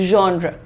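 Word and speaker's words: genre: द प्रोनंसिएशन इज़ जॉनर। जॉनर। र पे रुक रहे हैं। जॉन नहीं है ये। This is John. John raw simple है बिल्कुल। ठीक है? That's very nice Shruti. Welcome to the class. So प्रोनाउंसिएशन check करो इसको कैसे? Z और एच लिखा है साथ में ना। तो इसमें ज़ और श का मिक्सचर देना होता है बेटा।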